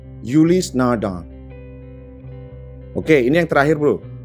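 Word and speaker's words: Ulysse Nardin: Beberapa orang Indonesia bacanya adalah Ulis Nardin. Kelihatannya sih benar karena memang tulisannya seperti itu. Ternyata yang benar adalah Ulis Nardin. Gua ulang, Ulis Nardin.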